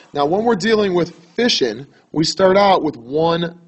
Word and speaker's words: fission: about is nuclear fishing again that's fishing not fision okay it's kind of like the way you would pronounce it would be um what Southerners would do when they go out in the lake that would be fishing okay me from the north I call that fishing but regardless now when